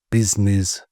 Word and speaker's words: business: Business, where we ignore the middle i and make the u sound like an i. As in busy business.